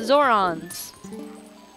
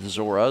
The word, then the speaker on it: Zoras: The Zorons. You mean the Zoras?